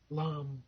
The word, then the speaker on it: Lam: then you can chant Lam Lam I'm never good on the exact pronunciations but it sort of rhymes with lamb l l and do